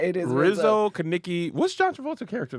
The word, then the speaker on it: Rizzo: It's Lizzo. Rizzo. Rizzo. I keep saying it wrong.